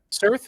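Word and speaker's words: Cirth: A message flashes across the screen written in how how do you pronounce it? Sir Cir. Yeah. Cir.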